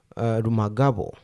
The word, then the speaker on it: Rumangabo: So they are giving up Rumangabo, or how they pronounce it, Rumangabo. I don't know why they make B sound like an F.